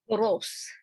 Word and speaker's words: Borås: Borås in Sweden. Sometimes the emphasis is on the first syllable, bor. It's quite small. There's not much. But Boros, yeah.